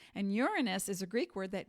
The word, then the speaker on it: Uranus: guided by the planet Uranus that's how it's pronounced Uranus and Uranus is a Greek word that means heavens cosmos